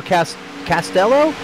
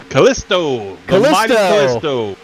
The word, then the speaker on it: Callisto: Lionel Castello? I'm going to say his name wrong. You got to help me out there. Callisto.